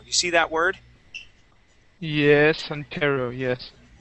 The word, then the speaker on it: Ontario: Yes, Ontario, yes. Ontario. Okay, so that's how we would pronounce that.